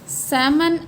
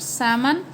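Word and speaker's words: salmon: Okay, next is सैमन एंड eel. Here L is silent. Okay, we called it सैमन एंड ईल।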